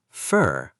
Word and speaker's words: for: Look at the word for robot. This is for you. Pronouncing it for human. This is for you. Fur like a cat's fur.